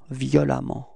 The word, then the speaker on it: violemment: So same concept, you pronounce it like if there was a, violemment, repeat, violemment, okay?